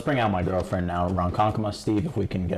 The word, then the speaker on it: Ronkonkoma: Ronkonkoma. Ronkonkoma. Like Kamala, but Kama.